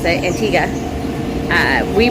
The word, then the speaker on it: Antigua: locals pron pronounce it Antiga uh we pronounce it Antigua and the locals said no it's antika uh so we went